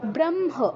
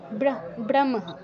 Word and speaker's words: ব্রহ্ম: আর ব্রহ্ম, ব্রহ্ম নয়, ব্রহ্ম, দুঃখিত, ব্রহ্ম, আগে মটা উচ্চারণ করতে হবে, তারপর হটা। ঠিক আছে দাদা?